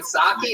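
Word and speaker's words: Psaki: The Jen Saki. Is that how you say it? You don't say the P at all.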